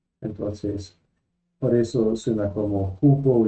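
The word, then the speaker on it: ου: El quinto, oi, oi. El sexto, u, u. Ojo, no se dice o. Los estudiantes siempre ven o y u y quieren decir o, pero se pronuncia u.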